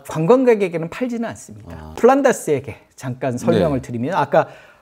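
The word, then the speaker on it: Flanders: 그러면 안 되는데 하여튼 기억이 난다고 이실 짓고 이 플란다스의 개의 작가는 영국인입니다. 아 원작은 원작은 그래서 영국 사람이 쓴 그 그래서 플랑드르의 개가 아니고 플란다스의 개 영국식 발음이고요.이 이 영국인이 썼던게이 네덜란드인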